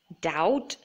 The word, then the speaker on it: doubt: So the B is silent in all of these words. So let me read them out to you. Doubt, debt, climb, comb, thumb, and tomb.